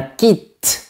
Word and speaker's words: kit: Mais pour certains mots techniques, j'ai bien réfléchi et j'ai trouvé pertinent de garder la prononciation du t. Par exemple, on dira un concept et un impact. De plus, il y a beaucoup de mots qui viennent de mon cousin anglais que j'ai voulu distinguer. Par exemple, un kit, un jet, internet, mais on